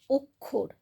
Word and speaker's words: অক্ষর: করি না আমরা বলি অক্ষর আমরা অটাকে ও এর মত উচ্চারণ করি আবার দেখো নক্ষত্র ন